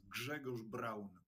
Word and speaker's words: Grzegorz Braun: Now, I should point out, I'm using the Western pronunciation of your first name. So to my Polish viewers, I apologize, but I tried for like 10 minutes. For your Polish viewers, my name is Grzegorz Braun.